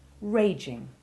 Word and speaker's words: raging: rule note also that when a verb in its basic form ends with a soft g followed and made soft by a silent e for example rage it drops the silent e when adding the present participle ending ing but it retains the soft g sound whose softness has already been established raging compare this with